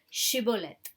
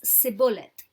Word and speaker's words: Shibboleth: They then asked each person who wanted to cross the river to say the word Shibboleth. But Ephraimites pronounced it wrongly as Sibboleth, and they were killed there.